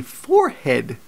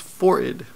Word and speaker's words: forehead: forehead and she checks she says no it's pronounced forid and just I I said I think I know how it's pronounced and I told her she's wrong but of course um as you now know by the only logical answer is that actually we were both right and then there are